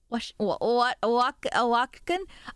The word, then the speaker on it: Oaxaca: I miss Oaxacan. Oaxacan. You gotta get hold on, I'm gonna slap that on Google Translate. How to pronounce this?